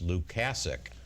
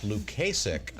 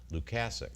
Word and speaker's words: Lukasik: Lukasik yes and I want to clarify it's Luke casick not Lukasik as the family in North Tonawanda so I'm not mispronouncing his name the pronunciation here is Luke assic thank you so I want to welcome both